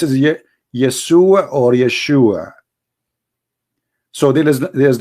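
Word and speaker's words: ישוע: pronounce the correct word the correct word in the Hebrew is Yeshua as simple as that so it's because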